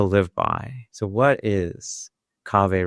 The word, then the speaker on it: Kaveh: So what is Kaveh rhymes with agave?